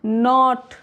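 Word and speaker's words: knot: नॉट, नॉब, नो, नॉक, निट, नकल। अगला rule है एल is often silent before F, के और डी।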